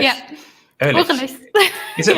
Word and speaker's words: Urlichs: If you can pronounce my last name. No, sorry. Ehrlich. Yeah. Ehrlich.